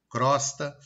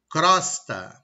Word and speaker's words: crosta: Eu tenho o E e o O fechado, omelete, alcova, crosta, mas eu pronuncio eles abertos. Omelete, alcova, crosta.